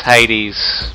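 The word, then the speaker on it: Jaydes: did there now it's it's it's hades but spell for j which in spanish can be pronounced as an h mr sub the underwear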